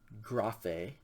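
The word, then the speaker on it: γραφή: it out with me the words are pronounced first one graphe graphae second word is dulos du las and then naman naman is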